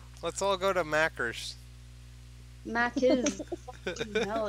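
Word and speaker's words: Macca's: You don't wanna have macers? Mac is. There's no ER. It's a fucking A. Mackers. What the fuck is that? Let's all go to macers. Mac is.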